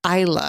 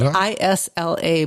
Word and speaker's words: Isla: It's spelled Isla, but it's... you don't say like La Isla Bonita? No, it's not. Because I said, is her name Isla? And she said, no, it's Isla.